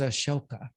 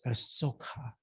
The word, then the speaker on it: Ashoka: His name was Ashoka or Asoka, depending on how you want to try to pronounce it.